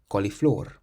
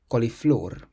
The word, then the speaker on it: coliflor: Then we have a word that ends in an R, so we stress the last syllable. Coliflor. Coliflor.